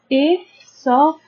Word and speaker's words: esophagus: We can divide these words into 4 syllables. First we have a, then we have o, f. As we said that ph makes the sound f. So we have a, sof, and then we have a,